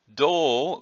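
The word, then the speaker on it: 胴: there's dole and GMA dole which with a long Oh sound is the torso or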